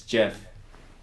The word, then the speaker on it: Jif: Is it Jif or Jiffy? It's Jeff.